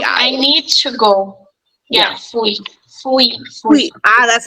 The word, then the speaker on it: fui: Fui. That's how you pronounce it.